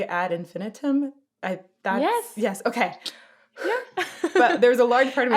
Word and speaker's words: Ad Infinitum: it was that way so if i say add infinitum yes yes okay yeah but there's a large